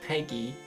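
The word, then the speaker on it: PEGI: The games they still pronounce it as PG, they do not. You literally go on a trailer and the guy says Peggy and then age.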